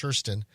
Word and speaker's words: Kirsten: It's Kirsten, but pronounced with an SH, Kirsten.